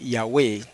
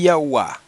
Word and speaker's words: Yahweh: se descartan Por qué Porque pronunciar el nombre de esa manera lo haría femenino eh decir yahua o decir yea hace el nombre femenino eh Okay eso es